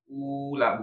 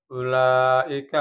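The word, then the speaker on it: أولئك: Ulaika, bukan ula, bukan, tapi u-nya pendek.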